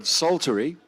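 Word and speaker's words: psaltery: He had the honor of doing the hammered doulamer and bode sulttery. Silent P again.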